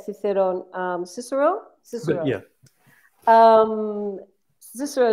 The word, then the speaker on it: Cicero: Cicero.